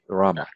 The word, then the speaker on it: Rama: is fine Rama okay Rama almost like Roma like my name is Roma actually right my short name so Rama that's that's very close okay great all right